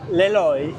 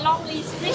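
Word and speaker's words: Lê Lợi: Bring in Le Loi. A foreigner always say Lonely Street. If you say it wrong, it means lonely street.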